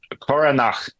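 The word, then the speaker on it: Caoranach: Uh Koranak. Okay. Coran.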